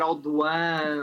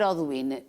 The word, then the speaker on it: Audouin: Na verdade, nós dizemos Oduína também, é muito aportuguesado, não é? Porque é um nome francês e deve-se pronunciar Audouin ou uma coisa assim. Faz muito bem dizer Oduína.